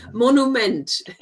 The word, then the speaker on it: Monument: That pronunciation is good, apart from the one dangerous, which I like to call the dangerous words. Monument. The one that's the one that's spelled like the English word exactly. Monument.